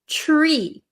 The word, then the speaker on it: tree: one you have is tree tree so do you hear the it almost sounds like a CH like chair chch okay so the